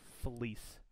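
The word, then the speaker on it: Vlies: brite pad it's uh spelled v-l-i-e-s but pronunciation is a fleece like a fleece sweatshirt okay so i use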